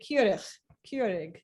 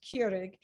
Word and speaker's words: Keurig: Keurig, that's Dutch, Keurig? right? Keurig. I don't know. Keurig is how Americans say it. I'm know. trying to say it in a Dutch appropriate way. I think Keurig.